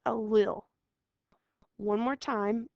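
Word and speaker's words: allele: the next word is a funny word it's mispronounced all the time so say it with me it's a li one more time it's a li a li is the letter used to describe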